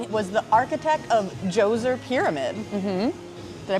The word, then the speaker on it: Djoser: yeah yeah and it was the architect of Jose pyramid did I pronounce that right you sure did yeah with